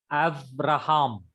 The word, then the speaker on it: Abraham: Abraham, Abraham. Abraham. not B. Abraham. Yeah, Abraham. Abraham. Abraham. Av is one syllable, Ra is one syllable, and Ham is one syllable.